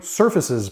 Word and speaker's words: ServFaces: mentioned today I'll be reviewing surfaces products now it's spelled serve faces so it's a cool twist to the name surfaces they're based out of